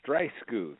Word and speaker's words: Streissguth: your last name Michael it's dry scooth and it's great to